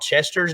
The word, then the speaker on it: Chester: There's also a place called Chester's downtown, Chester's Brunemeyer Grill. Very good place. And Chester rhymes with Hester and Lester, so it may be the happen place.